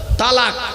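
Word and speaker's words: طلاق: শব্দটা বলেন তালাক। খবরদার শব্দটা তালাক নয়, তালাক নয় শব্দটা, শুনে যান। শব্দটা হলো তলাক।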